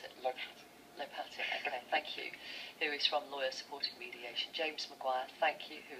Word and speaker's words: Lopatin: I like the French twist. I'm sorry, it does look French to me. It's clearly not, though. It's Russian. Is it Russian?